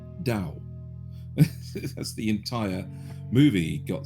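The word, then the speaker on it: Tao: was to do with Tau which you mean Dao the the mystical uh philosophy that is spelled with a t but pronounced with a d Dao that's the entire movie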